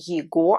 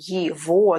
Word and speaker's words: его: Note that I'm not saying его, I'm saying его. That's how we pronounce it in Russian.